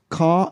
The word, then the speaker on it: car: a car car car there is there is the r is there but you don't pronounce the r yeah except maybe again if you're American car car car whatever